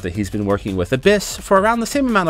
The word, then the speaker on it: ABIS: advanced brain investigation squad abis pronounced abyss whose job it is